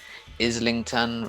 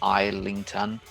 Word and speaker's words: Islington: it would be sailing and navigation i think islington rather than islington again you just have to learn this sort